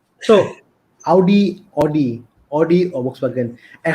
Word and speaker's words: Volkswagen: german yeah yeah yeah so is the w is also pronounced differently as a v yeah dmv that's why it's called volkswagen um i mean i